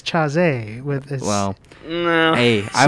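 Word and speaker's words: Chasez: both good people uh if you cared about jc you wouldn't call them chavez it's chazy with well no hey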